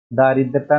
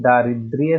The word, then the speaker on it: दारिद्र्य: दारिद्रता नहीं, दारिद्र्य होता है या दरिद्रता, दरिद्रता होगा।